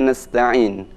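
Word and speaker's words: نستعين: Nah, selanjutnya saya bacakan Iyyaka na'budu wa iyyaka nasta'in. Perhatikan pada huruf sin nasta'in, jangan sampai dibaca monyong nas, tapi nas.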